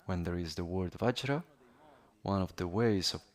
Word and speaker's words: vajra: there is the word vajra one of the ways of pronouncing it the Sanskrit word in Tibetan is benza.